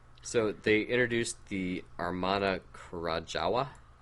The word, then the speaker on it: Krajowa: So they introduced the Armana Krajowa. W's or V's in Polish.